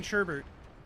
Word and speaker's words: sherbet: Because I don't like saying sherbet. I like saying sherbet, but there's no second R in the word.